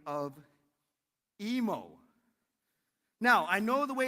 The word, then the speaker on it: Emo: So it's emo like nemo and not imu like a cow.